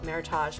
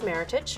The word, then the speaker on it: Meritage: And so just remember it, some people call it Meritage, but it is Meritage. Okay. Just remember it. I've heard Rhymes with Meritage.